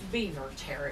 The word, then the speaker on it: Biewer Terrier: um that was well the beaver okay it's pronounced beaver terry oh yeah cool and uh their purpose in